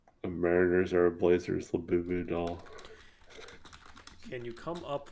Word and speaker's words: Labubu: Lebubu. Is that how you spell it? It's L-A. Labubu.